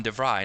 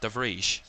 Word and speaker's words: de Vrij: That's going to be the difficulty, because I've just remembered that it's Stefan De Vrij, not De Vrij. Dutch don't pronounce their J's in that same way.